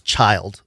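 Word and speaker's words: Schild: to pronounce the s s-c-h-i-l-d like the end of Roth's child but take out the Roth that's what his name is it's child Rudolph 's child Smithsonian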